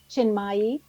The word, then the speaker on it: Chinmayi: Our expert tonight is Julie Chinmayi Door. And I might have misspel mispronounced that middle name.